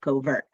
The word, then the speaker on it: covert: vermont coverts and uh it's actually pronounced cover not covert and and it's because uh a cover is an old english word for cover or thicket uh and so a place that wildlife likes to hide and uh it also